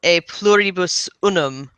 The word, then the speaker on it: E pluribus unum: And I can think of nothing that is more representative than E pluribus unum, out of many, one. I love the concept of that. And or pronounced in correct Latin, a pluribus unum.